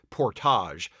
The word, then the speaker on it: Portage: of Portage Creek, Indiana, though I do believe the original French settlers pronounced it Portage.